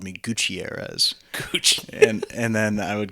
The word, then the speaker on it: Gutierrez: I mean, you can roll your R's. Gutierrez. Gutierrez. I don't roll my R's enough to... It's okay, you can't go wrong. I just say like Gutierrez.